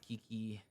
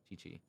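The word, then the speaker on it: Qiqi: I have Kiki, or I forgot how you say her name. I love this little zombie. She's always pretty funny when you, Chi-Chi. That's right, Chi-Chi.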